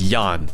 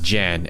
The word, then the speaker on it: Jan: going man dude ear his name is actually pronounced Yan not Jan and I've been completely